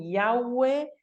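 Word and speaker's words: Yahweh: porque no sabemos cómo pronunciarlo podría ser un yagüe lo que está claro que no es Jehová Esta es una traducción errónea que se instaló y quedó ahí grabada ciertamente no es así como pronunciamos el nombre del dios de Israel es la manera que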